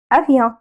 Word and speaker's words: avion: C'est un avion. On rappelle le O avec le N, on le prononce on.